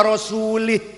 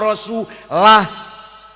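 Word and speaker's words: رسوله: Innallaha bari'um minal musyrikina wa rasulih. Allah orang lindungi orang musyrik dan tidak melindungi rasulnya. Salah. Bacanya innallaha bari'um minal musyrikina wa rasulah.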